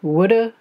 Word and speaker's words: would: How did they end up with that silent L in there?